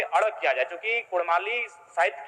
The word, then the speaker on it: कुड़माली: क्योंकि कुड़माली साहित्य की बात करें तो अड़ का महत्वपूर्ण